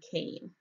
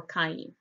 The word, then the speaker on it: Cain: here all right so let's start with the name kane kane or kaine kane is spelled kaf